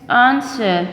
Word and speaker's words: answer: Answer, W is silent here.